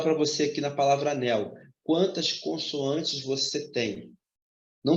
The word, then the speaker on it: anel: barras aqui ó paralelas como eu pronuncio anel anel você tá pronunciando assim né tá vendo Então esse L aqui tem som de u logo na palavra